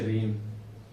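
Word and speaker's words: reign: अब इसी प्रकार इसमें भी आपको क्या मिलेगा, जी साइलेंट। क्या होगा इसको पढ़ेंगे रीम।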